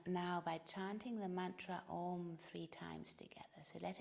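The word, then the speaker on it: Aum: throat with the ah it's actually three four syllables first is the ah arises in the back of the throat then the ooh in the center of the mouth and then at the lips you close the lips and the sound returns and the fourth syllable is the silence behind it so let's just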